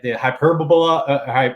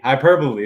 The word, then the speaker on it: hyperbole: that the whole like the hyperbola how do you say that hyperbole hyperbole hyperbole hyperbole hyperbole there we go um but the economic